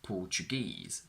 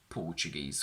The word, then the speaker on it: Portuguese: The general rule goes that all of these words on their own have their stress on the last syllable, but when we combine them with a noun, the stress shifts to the front. So, in 3-syllable words, we go from afternoon, Japanese, Portuguese, picturesque, to afternoon tea, Portuguese food. We go from Chinese to Chinese food, from this quantity is